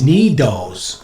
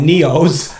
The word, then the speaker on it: Nido: She made me say it correctly because I was calling it Neos. I didn't know, right? Yeah. What was I saying? Neos? Yeah. Yeah, Neos. Neos. So she goes, no, they're Nido. So that's what they...